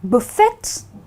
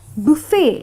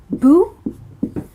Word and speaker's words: buffet: of people call it buffet but actually the T is a sleeping member of the word. It's silent there but not there. So you need to call it buffet, and the pronunciation is Bu-fey.